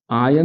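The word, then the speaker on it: iron: हाथों वाला नेल नहीं इसकी हम बात करें आयन नेल कौन सा नेल आयन नेल इसको हम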